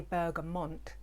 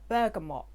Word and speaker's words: bergamot: obviously it has bergamot i used to say bergamont and i got told in the comments you're saying it wrong so thank you i now know how to say it bergamot but it has orange